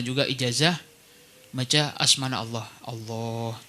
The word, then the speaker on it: Allah: Allah, cara bacanya dipanjangkan lafzul jalahnya.